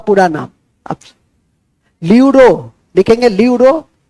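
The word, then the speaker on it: pleuro: ठीक है लिख देंगे पीपीएलओ का पूरा नाम लूरो लिखेंगे लूरो न्यूमोनिया लाइक ऑर्गेनिस्ट लूरो लूरो का स्पेलिंग लिखेंगे पी एल ई यू आर ओ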